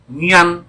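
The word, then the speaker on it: Nhan: Dia menyebutkan namanya, kami bersalaman dan dia menyebutkan namanya Nian. N-H-A-N. Marganya kalau kita sebut di sini Lam. Nian Lam. Tapi cara pengucapannya Nian Lam.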